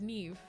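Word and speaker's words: Niamh: Yes, it would be a V sound at the end. Neve. In Gaelic. No! M-H equals a V.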